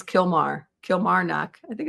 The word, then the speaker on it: Kilmar: I think you added a syllable. I think it's Kilmar.